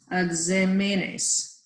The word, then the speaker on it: exámenes: Siempre hace bien en los exámenes. Yeah, you actually pronounced it how I had it written, but I just noticed I didn't have the accent on the ah. The word is exámenes, and everybody Okay.